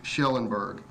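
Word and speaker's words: Kjellenberg: It's spelled KJ, but it is pronounced SH, Schellenberg.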